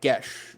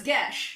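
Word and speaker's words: geas: to come up again gesh g-e-a-s is gesh i know i always pronounce it eos anyway is it what but it's i mean irish so it's gesh yeah exactly i like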